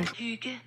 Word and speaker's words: Hygge: I actually can't pronounce the name of this cabin, so I'll let Google do it for me. Hygge.